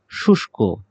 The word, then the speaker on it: শুষ্ক: শুষ্ক, শুষ্ক শব্দটি আ এই যে মূর্ধন্য ষ এর সাথে ক রয়েছে, সেটি আমরা তালব্য শ এর মতো উচ্চারণ করব। শুষ্ক।